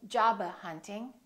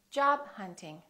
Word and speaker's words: job hunting: release the final stop job hunting don't say jabba hunting say job hunting top model don't say